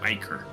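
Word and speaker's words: ichor: Icor or Iker. American English often pronounced as Icor. I will continue to say Icor.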